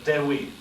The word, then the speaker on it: Dewi: In the Welsh, Dewi. Dewi. D-E-W-I.